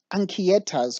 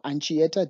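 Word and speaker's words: Anchieta: snouted cobra niger annulifera ankieta's cobra or ancieta depends how you want to pronounce it and shietas cobra which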